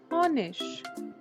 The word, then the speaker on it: Honig: Most of the times ig is pronounced as ish. For example, der Honig, der Honig, der Teppich, der Teppich.